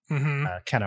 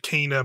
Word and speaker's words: Kena: They say it kind of like Kenna, Bridge of Spirits. That's how Kenna. That's usually how they it's like kind of pronunciated in the game. So that's kind of what I'm going with.